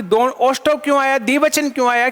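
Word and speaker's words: ओष्ठौ: ओष्टौ, ओष्ठः नहीं, ओष्टौ। इनमें किन्ना कि दोनों ओष्टौ क्यों आया?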